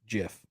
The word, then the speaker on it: GIF: from mitch sherman but only one gif jiff sometimes you gif people make me say gif we dupe you into saying it correctly no it's incorrect i think they're at